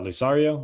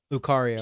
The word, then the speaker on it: Lucario: guys there uh like lusar uh lusario am i saying it right lucario he's a car he's